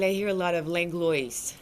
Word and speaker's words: Langlois: well, in French, it's Langlois. Right. But I add a little like Langlois, like a little accent, because I know like I need to help people.